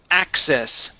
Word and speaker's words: access: very nice much better this word here is pronounced access easy access easy access okay uh easy access okay uh don't go up as much okay we don't want to say access okay but it's access just very little easy access easy